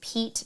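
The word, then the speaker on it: Peat: and river rafting with Pete Taylor Tours, but it's spelled P-E-A-T Taylor Tours or just Taylor Tours, Ocho Rios, Jamaica.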